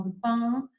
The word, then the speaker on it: Dupin: Si ustedes en francés podrían pronunciarlo mejor, algo así como Dupin, y quienes, ya les